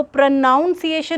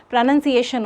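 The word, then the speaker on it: pronunciation: spelling ढूंढना है तो प्रोनाउंस एशन नहीं होता है जैसे कई बार कोई बंदा ऐसे बोलता है ना प्रोनाउंस एशन नहीं प्रोनंसिएशन होता है तो आप उस वर्ड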